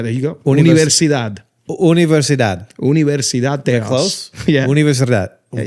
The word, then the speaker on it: Universidad: I'm saying it like a gringo, obviously. Universidad. One more time. Universidad. Universidad. Versidad. Yeah, there you go. Universidad. Universidad. Universidad Theos.